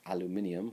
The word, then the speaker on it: aluminium: the periodic table and aluminum or aluminium, which is how they say it everywhere else, which sounds much cooler, is uh it's found on the periodic table.